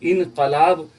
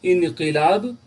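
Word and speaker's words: انقلاب: सिर्फ यहीं पर तो इंकलाब गलत है इंकलाब सही है तो जब आप उर्दू भी लिखेंगे तो इंकलाब ही लिखा जाएगा उर्दू में भी इसकी स्पेलिंग में इन काफ के ऊपर जेर आएगा तो याद रखिए इंकलाब होता है इंकलाब जिंदाबाद ठीक इंकलाब नहीं होता हो तो बहरहाल काफ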